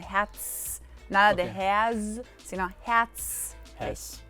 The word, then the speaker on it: Herz: Y luego la Z se pronuncia como TS en español, Herz.